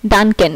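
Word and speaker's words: danken: যেমন এই যে এখানে ডি সবার ফার্স্টে আছে তাই ডানকেন, এই যে DNKEN, ডানকেন, এটা উচ্চারণ হয়েছে ড এর মতো।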